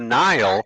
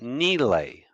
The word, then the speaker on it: Nile: word Sahara means desert the name of the river we pronounce it the Nile that is not how it's pronounced it's pronounced Neely oh you get little